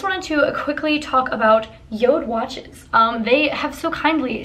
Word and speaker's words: JORD: the company is spelled J Ord but it's pronounced Yoda and all of their watches are made from